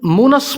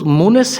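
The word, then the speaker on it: مونِس: دوست، تسلی دینے والا۔ اس نام کو بھی عموماً مونس پڑھا جاتا ہے، نون پر زبر کے ساتھ، حالانکہ درست تلفظ مونس ہے، نون کے نیچے زیر کے ساتھ۔ نام ہے انس۔ انس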